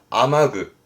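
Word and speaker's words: 雨具: 발음은 아마그, 아마그.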